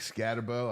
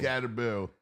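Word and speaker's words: Skattebo: backs you know Christian McAffrey like I think scatterbo I wanted to tell you this today scatter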